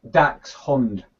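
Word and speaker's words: Dachshund: No I um I I pronounce it Dax Dax hund as in Badger dog yeah Bader Hound how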